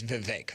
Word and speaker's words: Vivek: Remember, he and Elon were going to co-run Doge, and Elon very quickly forced Vivek out. I guess, yes, Vivek, people are telling me. The correct pronunciation is Vivek.